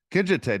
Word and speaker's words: Kinjite: Is it Kinjite? Is it pronounce it for me? Kinjite, not too bad.